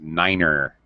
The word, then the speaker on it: niner: nose six seven eight nine is pronounced Niner this I definitely heard